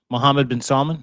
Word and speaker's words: Mohammed bin Salman: There is a phone call that exists around this conversation where Donald Trump and MBS, Mohammed bin Salman, is that how you say it?